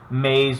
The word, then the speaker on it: maize: But the reason I include this example is, again, maze being another word. It sounds just like for corn, and it just sounds like the word maze that we use for, like, labyrinth.